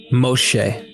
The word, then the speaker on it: Moshe: Instead, his name is pronounced as Moshe. Notice the sh sound in his name.